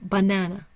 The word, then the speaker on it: banana: the word as well the primary stress is on the na there's no secondary stress and the schah is over the first syllable and over the last so we really want to enunciate that middle syllable banana banana disposable disposable I underline the